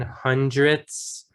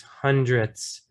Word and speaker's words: hundredths: I want you guys to practice saying hundredths. It's a difficult word to say at the end, especially there.